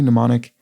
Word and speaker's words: mnemonic: are hard c candies 1995's johnny mnemonic is a silent m movie and sloth eg in